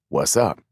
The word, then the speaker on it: WZUP: radio station with the call letters WZUP, pronounced what's up.